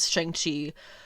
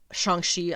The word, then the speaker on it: Shang-Chi: is katie and similia is shangchi shanxi i i can't i keep correcting myself on that because i want to be saying it right i don't want to spread around the americanized version of it because if they're going to be saying it right in the movie i just got to jump on board with that now get ahead of it